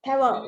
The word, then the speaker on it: parol: should, and then I put it around the Parol. Is that how you pronounce it? Parol.